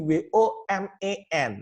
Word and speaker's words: women: Nah, sedangkan bentuk banyak dari kata woman adalah WOMEN, dibacanya menjadi bukan wo lagi suku pertama, tapi menjadi w, suku keduanya menjadi main.